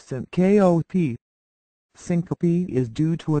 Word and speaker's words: syncope: to an emergency room it is pronounced Sy kop Syncopy is due to